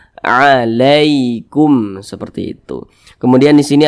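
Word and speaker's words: عليكم: maka berhati-hati cara membacanya Jangan baca alikum Ali Ali jangan dibaca mudah lunak saja alaikum seperti itu kemudian di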